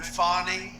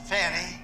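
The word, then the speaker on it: Fani: after another you had fonnie f a n i which is usually pronounced Fanny she added a little action to it fny that was a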